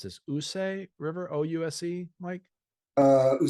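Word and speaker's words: Ouse: the I I will not be able to pronounce this USA River ousa Mike uh who say River yes U say River and promptly seized York Harold of England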